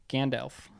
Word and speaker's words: Gandalf: Gandalf. Gandalf. Not Gand. Not ALF like the up alien from the 80s. He's not up. Gandalf.